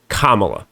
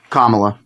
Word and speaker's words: Kamala: Kamala. Can you say it with me? Kamala. It's like comma at the in the middle of a sentence.